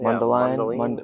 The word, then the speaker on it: Mundelein: In Mundelein? Is that how you pronounce it? Mundelein? Mundelein, Mundelein, Illinois.